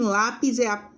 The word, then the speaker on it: lápis: E em lápis é paroxítona, a penúltima é a mais forte.